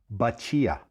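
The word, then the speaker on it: batida: This drink is called, it's spelled B-A-T-I-D-A, but it's pronounced Bacia.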